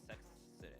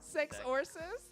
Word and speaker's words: Sexorcist: First of all, how did you get the name Sexist? Am I saying it right? Sexist. Sexorcist. Sexorcist. Like exorcist. Sexorcist.